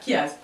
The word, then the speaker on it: chiasme: وهذا لو كيازم راه كيبدا بسي اش ولكن كيتنطق ك فوالا كيازم.